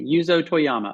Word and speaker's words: Yuzo Toyama: is it yuzo Toyama is that the correct pronunciation perfect okay okay yuzo Toyama okay so uh yuzo is a conductor and